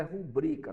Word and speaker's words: rubrica: o nome da palavra a palavra a pronúncia dela é rubrika tá um colega professor me corrigir esses dias no comentário no YouTube ele tá certo eu tenho costume de pronunciar a palavra rubricar como Rubens tá é um costume Ok então está errado a palavra é rubricar mesmo